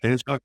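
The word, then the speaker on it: Fanshawe: So I'm going to probably butcher the name. Fansaw, is that did I say that right? Fansaw College. Fansaw College.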